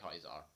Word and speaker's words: Caesar: I only ran across them twice before I actually got the mark of Kaiser. I think it's spelt Caesar, but they pronounce it Kaiser.